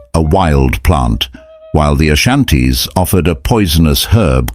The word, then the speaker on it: Ashanti: names fany and Ashanti it is notable that the initial a in Ashanti is not pronounced by the local people it does not clarify